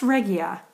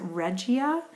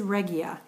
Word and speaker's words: Regia: she's teamed up with regia and it is pronounced regia I have been um I always pronounced it regia but it is regia I did meet Linda Pratt of the um